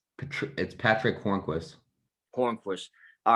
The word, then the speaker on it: Hornqvist: is how you say that uh uh it's hornqvist corn force all right so he also had